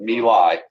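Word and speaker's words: My Lai: into this Village called nilai that's how you pronounce that milai and they heard the entire Village into a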